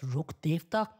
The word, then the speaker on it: Rukkhadevata: This From Me But Rukkhadevata Should Be Pronounced As Rukh-devta Or Rukh-dev For Short Since These Terms Are Derived From Sanskrit And The English Pronunciation Completely Butchered It So Basically What This